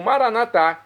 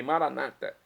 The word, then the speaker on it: Maranata: Nossos irmãos das comunidades evangélicas ou protestantes dizem: "Maranata também é uma pronúncia correta.